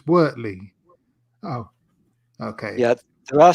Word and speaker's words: Wortley: I pronounced it Wortley until somebody corrected me. Actually, it's Wortley.